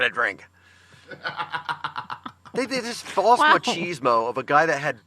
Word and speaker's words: machismo: These, dude bros that you always talk about, We've gotten several cards and letters saying that it's pronounced machismo.